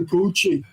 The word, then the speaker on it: Bucci: It's Bucci like Gucci, right?